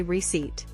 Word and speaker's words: receipt: instead of receipt fix silent P just say receipt and this is my